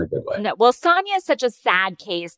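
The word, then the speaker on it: Sonja: about guys isn't it Sonia I'm sorry to jump in here well I I do the the countesses pronunciation which is Sanya okay I I appreciate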